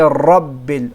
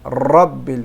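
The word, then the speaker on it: ربِّ: Don't say Rabbil. Rabbil. We only vibrate the ra. We do not rotate.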